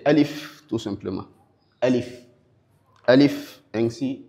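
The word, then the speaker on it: ألف: Donc on est censé la prononcer alif tout simplement.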